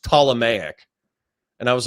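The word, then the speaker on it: Ptolemaic: offspring and I think I said like the Tmic dynasty and then what what what's his face the stick from last night said oh it's pronounced Tomic and I was like oh well I'll you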